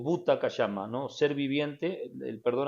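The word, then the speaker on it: क्षमा: hablaba no en sánscrito es kashama kashama se escribe k s h a m a kashama Qué significa en sánscrito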